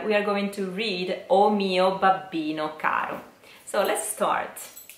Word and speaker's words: O mio babbino caro: soft and short so be careful because it's not all mio babbino Caro which is not elegant at all but it is o mio babbino Caro or o mio babbino